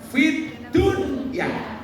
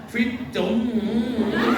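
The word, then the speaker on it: فِي الدُّنْيَا: Makanya membacanya idhar, fit dunya, bukan idgham, fit dunya.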